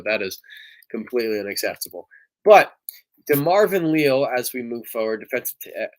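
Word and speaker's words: DeMarvin Leal: there nfl draft the pittsburgh steelers select de marvin liao defensive end texas a m so that's unfortunate that his name was mispronounced on draft day and i i do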